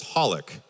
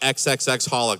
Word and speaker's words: xxxHOLiC: So, it's called you say it as Holic. I've been calling it XXXHolic this whole time.